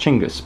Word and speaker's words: Chinggis: I'm told it's pronounced Chinggis, but it looks like Zsin to me.